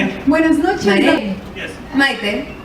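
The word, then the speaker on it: Mayte: Maite. Yes. Maite. Mai Tai? Maid, Maite. But Maite is, how to spell it for me?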